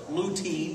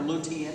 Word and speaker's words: lutein: with potassium loaded with lutein or lutein however you want to pronounce it loaded with folate